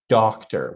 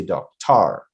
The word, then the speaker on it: doctor: We try to pronounce it a little bit uh less than the first syllable. So, we say for example, doctor. We don't say doctor, right?